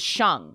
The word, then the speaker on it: Sheng: me i say shang it's pronounced shang as in li shang from the disney mulan that's where i kind of first thought of that being my middle name and it's spelled differently but it's pronounced the same oh whoa wait who